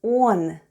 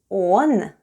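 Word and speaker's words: он: a russian for he the first sound is o and it's stressed and it's pronounced as o and then we have sound n and all together is one which is russian for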